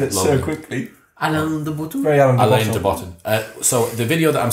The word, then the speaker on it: Alain de Botton: So very Alander Button. What's that? I don't know how you pronounce his name. Alain de Botton.